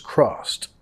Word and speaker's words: crossed: Crossed ed pronunciado como una T.